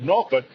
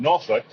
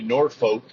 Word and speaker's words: Norfolk: more recently now you noticed when I said noruk it's actually Norfolk Virginia if you're from Virginia it's pronounced noruk a lot of times on movies and TV shows they'll say Norfolk which is absolutely incorrect if you're from the